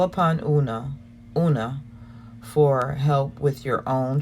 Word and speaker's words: Una: About Unag, or Una, that's how you say it.